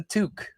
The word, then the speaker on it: toque: outfit normally is, and he loves rocking the toque. Did I say it right? Is it T-U? How do you spell it?